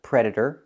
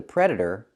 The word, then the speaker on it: predator: The t is pronounced as a fast e.